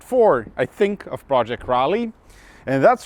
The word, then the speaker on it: Raleigh: i think of project rally and that's right i've been mispronouncing this project all this time it is not riley it is raleigh as few of you